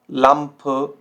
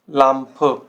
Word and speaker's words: Lampe: द एंड, ठीक है, तो इसमें थोड़ा सा एंड में आपको अ साउंड ऐड करना होता है, अ। zum Beispiel Frage, Frage, leise, leise, Lampe, Lampe।